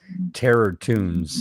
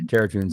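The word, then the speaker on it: Terror Toons: franchise and it's titled Terror tunes and it's spelled Terror and then t o o NS like cartoons terrot tons and it's a movie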